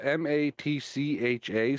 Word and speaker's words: matcha: wrong but I'm gonna because I know it's not mocha I know how mocha is spelled but this is spelled m-a-t-c-h-a so matcha matcha matcha matcha green tea again I think and that's number what 30.